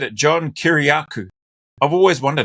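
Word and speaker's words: Kiriakou: My name is John Kuryaku. K I R I A K O U. I'm a former CIA counterterrorism officer. I'm glad he said it. John Kuryaku.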